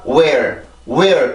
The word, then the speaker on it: where: 그냥 where 이게 아니라 where 이렇게 발음이 되지 where이 되지 않는단 말이에요.